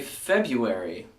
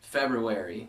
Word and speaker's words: February: of doing including myself we have a tendency to say February even though the correct way to say it is February there is that extra R in there after the B but I think we're